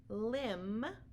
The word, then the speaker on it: limb: to remember these tricks so for example crumb Clym comb thumb limb and lamb you don't hear a buck but sound at the end so these are only